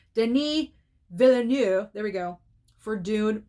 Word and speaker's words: Denis Villeneuve: Denis Villeneuve, there we go, for Dune Part 2.